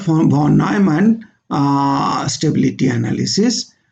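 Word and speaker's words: von Neumann: Now, this is called for Von-Neumann stability analysis, correct pronunciation is Fon-Nnoyman, Von-Neumann stability analysis.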